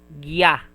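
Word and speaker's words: ぎゃ: And a small ya, it will be pronounced as gya, gya.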